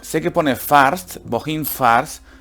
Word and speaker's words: fährst: Sé que pone fährst, wohin fährst, pero recordar que la A con las dos puntitos, con la diéresis, hace el sonido de una E.